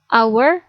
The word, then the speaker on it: hour: benda bukan dari tulisannya kata hour yang berawalan konsonan hal berpasangan dengan artikel n karena ketika dibaca ha pada kata our bunyinya lenyap atau tidak dibaca Hai catatan penting untuk